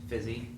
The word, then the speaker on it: Physi: am the co-founder of fizzy it's pronounced busy like physical activity not busy here so